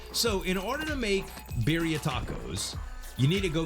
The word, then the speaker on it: birria: tacos are, or excuse, let me say it like the Latinos would say it, depending on if you're male or female. Birria. Okay, I think that's how you do it. Birria. You gotta kind of roll your R's.